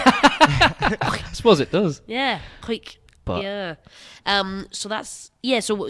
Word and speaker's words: Hawick: Hawick. If I used to think before it's written, it was like Hoick, Hawick or something like that. Not that way. Hawick. It sounds like you're clearing your throat.